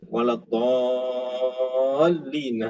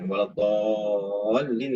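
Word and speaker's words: ولا الضالين: Waladhdallin itu mad lazim kalimi musaqqal. Jadi bacanya 6 harakat dan ada tasydid bersabdu. Waladhdallin.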